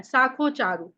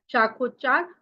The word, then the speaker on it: शाखोच्चार: शाखो चारु, शाखो चारु, शाखो चार, चारु ये सुंदरता वाला चारु नहीं है, उच्चारण से लिया हुआ है। शाखोचार, शाखोच्चार और शाखोच्चार यानी जैसे